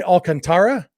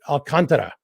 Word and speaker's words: Alcantara: I know I used to say Alcantara, and somebody corrected me and said the emphasis is on the con. And I think I've been then running the last two syllables together, saying more Alcantara, instead it should be Alcantara. And I'm not good at rolling my R's, but at least getting all four syllables.